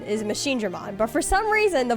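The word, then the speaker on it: MachineDramon: all of the characters in that game were pronouncing it as machine Dmon instead of instead of Machine Drammon, which is the correct pronunciation is Machine Drammon.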